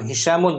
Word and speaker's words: هشام: Nah, Hishamun jangan Hashim ya. Bacanya Hishamun. Jangan dibaca Hashim.